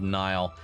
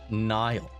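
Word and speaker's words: Niall: Your pronunciation of Nile may cost you your Irish ancestry card. Um it's Nile or Nile, not Neolan from One Direction.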